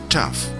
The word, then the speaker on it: tough: result in different pronunciations the letter combination G H acts as the letter F therefore G oh you G H is tough and see oh you G H is cough the letter combination CH